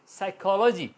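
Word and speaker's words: psychology: इसी तरह साइकोलॉजी, साइकोलॉजी एस की आवाज़ आ रही है, साइकोलॉजी पी साइलेंट होता है जब वो एस से पहले आता है।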